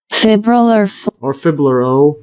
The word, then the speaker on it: fibrillar: Let's see that again, pronunciation. Fibrillar flight muscles containing round individual myofibrils in red,